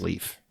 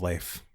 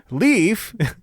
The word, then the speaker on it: Leif: estranged mother honey dies leaf i've always seen that pronounced as life no it's leaf though all right fine i'll